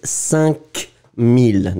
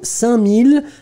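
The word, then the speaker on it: cinq mille: so 5000, 5000, it's 5000, d'accord, but you don't pronounce the k. So, 5000, and then 72, I can see that Cloudy Sky made the same mistake.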